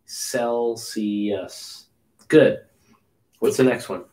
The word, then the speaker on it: Celsius: It's not Kel. It's not K. Celsius. Okay. Celsius. Soft C. Celsius.